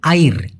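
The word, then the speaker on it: air: তেরজুন clear আয়ের মাথা এখন এটা অনেকে বলে আয়র অনেকে বলে আয়র যেটাই বলেন ভাই উচ্চারণটা সঠিক হওয়া উচিত আইর আইর আইর না।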